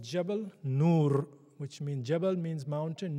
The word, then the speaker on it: Jabal Nur: It is called Jabal Nur, which means, Jabal means mountain, Nur means light.